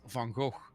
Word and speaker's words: van Gogh: uh van gogh and everyone said fango and then stephen fry said no it's van gogh but it and even